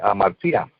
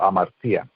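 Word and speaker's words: ἁμαρτία: Y en griego se dice amartía, con H, amartía, y con T al final. Y tiene el mismo significado, es decir, desviarse del blanco, amartía, errar en el blanco.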